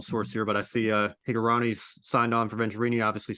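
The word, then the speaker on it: Hingorani: So kind of coming into that, and of course I mentioned Sean Higurani. That's also how you pronounce his last name.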